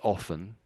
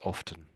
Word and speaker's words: often: Most people don't pronounce the T. I think about 20% of people often. Yeah, most people say often, but I'd say a